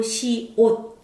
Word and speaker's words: 시옷: 시옷. 시옷이 아니고 시옷. 시옷, 우리가 옷 입는다 할때이 옷이에요. 시옷.